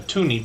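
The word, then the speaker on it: toonie: came out they just call that a tuny because it's $2 um to rhyme with the the Looney I guess so anyway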